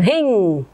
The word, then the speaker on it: ह्रीं: ठीक, रिंग, इसका उच्चारण रिंग, रिंग फट, रिंग, ह और र मिला रिंग।